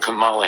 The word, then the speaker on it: Kamala: say it again correctly comma like the punctuation mark and then love yeah that that's how